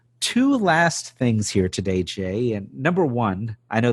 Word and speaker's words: Jai: other things so two last things here today jay and number one i know this one's gonna